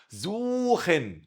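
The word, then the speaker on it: suchen: زوخن، السي اتش اتنطقت خاء عشان جت بعد حرف الاو.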